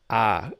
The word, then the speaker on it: of: cup of tea so sometimes when I speak quickly I use ah as the pronunciation for of so cup of tea